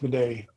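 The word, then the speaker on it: Midé: Yeah, it's usually pronounced Meday.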